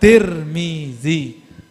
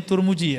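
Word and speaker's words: Tirmidhi: Riwayat Imam Al-Bukhari wat Tirmizi atau wat Turmuji. Orang sini bacanya Turmuji ya? Turmudi. Nang di.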